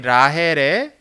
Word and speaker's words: 라헬: 근데 정확히 이야기하면 이 라헬의 이 히읗 발음은 저 헤트 발음이에요. 정확하게 읽으려면 라헬이에요. 라헬. 그렇게 읽어야 돼. 정확한 발음은.